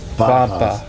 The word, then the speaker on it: papa: called papa papa it they spell it with a p but in there's a a p sound that you know you you aspirate or you form your like a p but you you say it like a b papaa Papa can you